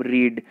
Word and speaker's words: read: फिर आती है जी थर्ड फॉर्म रीड, रीड की थर्ड फॉर्म होती है रेड, स्पेलिंग सेम होती है, प्रोनाउंसिएशन अलग होता है, READ रेड होती है।